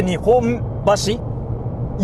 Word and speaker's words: Nihonbashi: But when you say Nihonbashi, you close your mouth. That's an M sound.